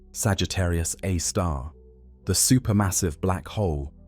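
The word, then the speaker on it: Sagittarius A*: Now, at the very core, at the precise center of the Milky Way's rotation, resides Sagittarius A, pronounced Sagittarius A star, the super massive black hole of about 4 million times the mass of our sun.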